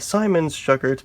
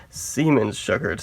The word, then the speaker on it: Siemens-Schuckert: I'm no German, so I used to call it the Siemens-Schuckert, but evidently that's the wrong pronunciation. It has to be Siemens-Schuckert, so that's what I'm going to call it from now on.